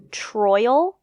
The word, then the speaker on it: Troyal: did not know this his name is troyal like Royal with a t troyal which is a name I have never heard of pronounce that do you pronounce it troyal I did I have